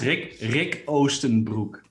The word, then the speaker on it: Rik Oostenbroek: Rik Oostenbroek, if I'm saying your name correctly, can you just correctly like tell me how you say it so much cooler? Dude, you killed it. It's Rik Oostenbroek, which is translates into Eastern pants in English.